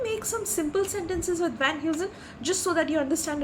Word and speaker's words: Van Heusen: v-a-n-h-e-u-s-e-n and how is it pronounced it is pronounced as v a n h y double o z u h n van who's in so can we make some simple sentences with Van Heusen just so that you understand it properly okay